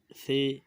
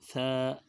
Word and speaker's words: ث: تلفظ سے پرہیز کریں، یعنی بے، تے، ثے، ہے، خے، توئیں، زوئیں وغیرہ ہرگز نہ پڑھیں، بلکہ با، تا، ثا، حا، خا، طو، ظا پڑھیں۔ تو اسی طرح جب